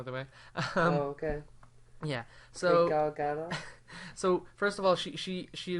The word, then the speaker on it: Gal Gadot: I think it's Gal Gadot. No, she says you need to pronounce the T. She's from Israel, by the way. Okay. Yeah. So Gal Gadot.